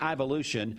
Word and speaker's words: Ivolution: a little bit later and I think it's pronounced ivolution you're correct but uh tell me about the